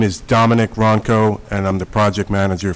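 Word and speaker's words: Wronko: Ronco with silent W. Ronco.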